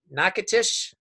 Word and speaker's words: Natchitoches: he's a wound care service line director at Natchitoches Hospital.